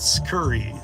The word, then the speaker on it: Curri: what you're doing what Curry spelled like this C Ur r i uh it's B2B stuff